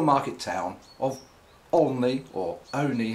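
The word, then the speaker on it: Olney: town of only or only as it's pronounced locally in buckinghamshire um down below me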